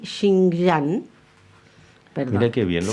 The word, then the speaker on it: Xinjiang: el desistimiento de las empresas chinas BYD y Xinjiang. Perdón. Mira qué bien lo pronunciaste. ¿Cómo es? ¿Xinjiang? Xinjiang.